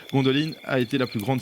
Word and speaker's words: Gondolin: Gondolin qui est, ou Gondoline, alors de nouveau la manière de prononcer, je pense que c'est Gondoline parce que là c'est de l'elfique. Gondoline a été la plus